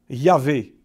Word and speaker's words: Yahvé: Même si d'ailleurs la plupart des hébraïsants d'aujourd'hui préfèrent au nom de Jéhovah Yahvé, qu'ils pensent être plus près de la vraie prononciation du nom.